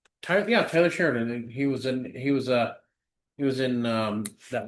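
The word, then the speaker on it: Taylor Sheridan: Oh, oh, for hell's sakes, I'm saying his name wrong. Tyler Sheridan.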